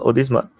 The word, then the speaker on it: Odisha: right come again odma is it is it pronounced odisa yeah I mean I look at accent your